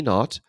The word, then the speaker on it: naught: event so proper time delta t naught uh that's how you say it that that little oh more on this in a second it's not a letter o it's a zero or not is the amount of